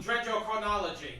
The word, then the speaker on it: dendrochronology: Dendrochronology.